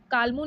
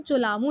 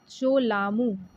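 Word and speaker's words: Cholamu: ये आपका, सॉरी, कालमू नहीं बोलते हैं, इन्होंने गलत लिखा है, स्पेलिंग गलत लिखी है बच्चे। इसको हम चोलामू लेक बोलते हैं, ठीक है। क्या बोलते हैं? चोलामू, चोलामू लेक बोलते हैं, ठीक है।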